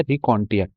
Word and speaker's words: raconteur: यहाँ से एक बहुत अच्छा वर्ड बनता है रिकॉन्टियर।